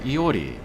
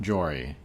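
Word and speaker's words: Jori: Iori. Iori. So it's a silent J, I guess. Not Jory.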